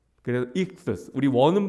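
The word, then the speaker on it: ἰχθύς: I하고 X하고 번데기하고 U하고 S하고 근데 그게 발음이 뭐냐면 익두스인데 그 가운데 번데기가 th 발음이 나요. 그래서 익두스. 우리 원음 발음으로 해볼까요? 시작. 네, 익두스.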